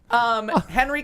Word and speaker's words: Henry: Henry Cavill, and it rhymes with travel.